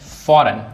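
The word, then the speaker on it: foreign: फॉरेन फॉरेन में जी silent है।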